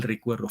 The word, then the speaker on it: recuerdo: Recuerdo, cuando digo recuerdo, el acento va en la sílaba es cuer, la que suena más es la E.